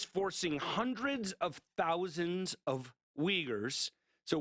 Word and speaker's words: Uyghur: China is forcing hundreds of thousands of Uyghurs. So Uyghurs are a Muslim minority population in Western China. It's spelled Uighur, Uyghur, and other minorities into hard